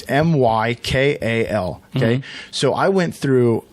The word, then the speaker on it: Mykal: It's Mykal.